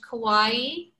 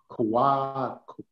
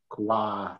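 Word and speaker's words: Kauaʻi: Any questions out there, folks, on Kauai? I've been saying Kauai, but it's Kauai. It's like Kauai, but it's Kauai. Kauai.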